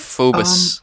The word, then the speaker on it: Phobos: How do you pronounce that? Phobos.